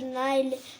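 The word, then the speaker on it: Nile: the delta of river नाल Africa letter नाइल नहीं होगा बापू नील होगा रिवर नील नील नदी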